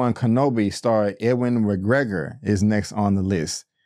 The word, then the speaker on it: Ewan McGregor: Ewan McGregor.